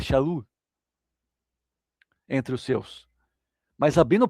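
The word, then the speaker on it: שאול: apóstolo pudesse ser eh, pronunciado Paulo, mas na verdade é Shaul.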